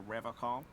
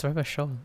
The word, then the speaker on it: Revachol: But someone has to stay strong for Revacol. Revacol. It's Revachol, anyway. He pronounces Revacol with a hard K, unlike other people.